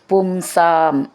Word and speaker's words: പുംസാം: പറയണം രണ്ട് മ എന്നുണ്ട് പുംസാം സാം എന്നുള്ളത് ദീർഘം മൂർഖം ത്വത്പാദം ഏവ ത്വത്പാദമേവ